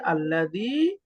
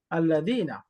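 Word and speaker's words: الذي: হামজাটা হলো হামজাতুল অর্থাৎ শুরুতে থাকলে উচ্চারণ হবে তার পূর্বে কোন শব্দ বা বাক্য চলে আসলে সেটা আর উচ্চারণ হবে না এজন্য এগুলোর নাম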